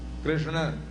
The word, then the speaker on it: कृष्ण: ही बड़ा टेढ़ा है कृष्ण बोलना शुद्ध उच्चारण करना सबकी बास की बात नहीं है कि बोलेंगे किसुन बोलेंगे कृष्ण नहीं बोल पाते सब लिखना भी मुश्किल